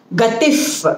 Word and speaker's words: गतिः: Gatif, because visargam followed by pa or pra will make it if.